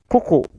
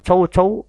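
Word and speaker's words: coucou: halnya dengan salut, yaitu kuku, bukan cow-cow tapi OU dibaca U, OU dibaca U. Tidak perlu monyong kalau ada huruf O dan U.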